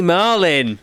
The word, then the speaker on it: Malin: Yeah, it's Malin. That's how you pronounce it.